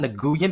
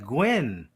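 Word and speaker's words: Nguyen: I'm gonna call you no it's gwy that's gwy that's not nguan it's gwy I've met too many people who pronounce their name spell it exactly the same and they really the 99% that I've met pronounce it gwy I had a former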